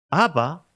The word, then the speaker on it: Abba: se dirige al padre Abba es una voz aramea y efectivamente como os he dicho parece solo tres veces pero ahí en esa expresión de ABBA con ese acento en la última a dicen los especialistas Joaquín